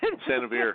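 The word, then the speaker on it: San Xavier: San Javier, yes.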